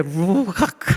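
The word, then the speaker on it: רוח: 창세기에서도 하나님께서 아담을 지으시고 코에 생기를 불어 놓으셨는데 이게 히브리어로 악 이게 이게 한국말려는 발음이 살았는데 루악 하면서 가렵했듯이 루악하는게 이제 하나님이 아담의 코에 생기를 불어넣으신 그것 뜻인데 숨은 우리가 숨쉬고는 못 살잖아요.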